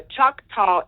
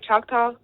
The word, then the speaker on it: Choctaw: Am I saying it right? Choctaw. She's a Choctaw Indian. Well, some people say Choctaw, but go ahead. Choctaw. Okay, Choctaw or Choctaw.